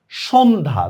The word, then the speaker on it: সন্ধ্যা: বিদ্যা অদ্য ইত্যাদি ইত্যাদি জফলা যদি কখনো যুক্ত বর্ণের সাথে যদি হয় যুক্ত বর্ণের সাথে তাহলে তার উচ্চারণই হয় না কোন যুক্ত বর্ণের সাথে যদি হয় যেমন দেখ সন্ধ্যা দেখ জফলার কোন উচ্চারণই আমরা করি না সন্ধ্যা স্বাস্থ্য দেখ জফলার